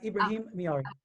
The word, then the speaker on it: Ibrahim: saying your name correctly he said it right ibrahim okay awesome okay so ibrahim miyari is a